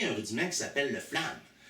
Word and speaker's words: flam: Flamme, si on analyse rapidement, c'est une syllabe. Flamme, ça se dit d'un coup. Par contre, il y a FL, FL, puis il y a AM à la fin. Donc, flamme. C'est comme si on avait deux syllabes cachées dans une seule syllabe.